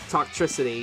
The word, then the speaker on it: Toxtricity: Is that how I pronounce it? Toxtricity, yes.